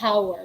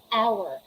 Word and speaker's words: hour: pronounce the h there the h is muted the h is silent we're going to pronounce them um using the next letter so we have the first word hour we don't say hour we say hour and